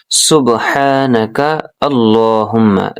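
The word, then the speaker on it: سُبْحَانَكَ اللَّهُمَّ: দিচ্ছি সুবহ কলকলা হবে হা গলার মধ্য থেকে হবে উচ্চারণ না কাল আল্লাহুম্মা হবে ল হবে লা হবে না হবে সুবহানাকা আল্লাহুম্মা সুবহানাকা আল্লাহুম্মা সুবহানাকা আল্লাহুম্মা এতটুকু মুখস্ত করেন।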